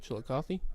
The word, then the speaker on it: Chillicothe: How you say it again? Chillicothe? Yeah, sure. Yeah. And that's where I got them. Yeah, Chillicothe. Sure. Chili and coffee.